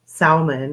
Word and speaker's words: salmon: it it's a salmon I always like to say um salmon which is funny but I know it's supposed to be pronounced salmon I guess I don't know I guess there's a silent L out there somewhere but it was